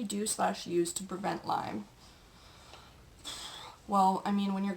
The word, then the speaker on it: Lyme: Number 7, is it Lyme or limes? It's Lyme. I mean, lots of people in the Lyme community get kind of butthurt when people call it, oh, is it limes?